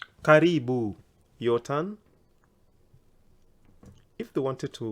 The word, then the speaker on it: karibu: you how would they say welcome come in caribou karibu yotan if they wanted to welcome many people if you want the one saying welcome everyone in my house karibuni karibuni can I hear you say that very